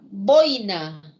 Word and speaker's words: boina: es igual que corner además en la la boina boina de chile no no porque acaben vocal